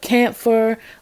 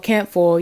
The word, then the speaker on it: camphor: But you can take a charcoal disc and put herbs, cleansing herbs, camphor, or camphor. You know, it has different pronunciations, on a charcoal disc, and it will put smoke in the air and cleanse you.